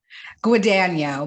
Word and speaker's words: Guadagno: do how do you say your last name guano Betty guano guano okay I I I just